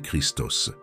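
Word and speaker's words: Χριστός: la phrase clé je suis le Christ se prononce ego ami Christos le terme Christos est dérivé du verbe grec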